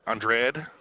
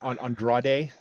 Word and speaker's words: Andrade: we got Jimmy Uso we got Andre right Andre coming down Andrade Andrade I can never say his name there's too many syllables well the the the the the big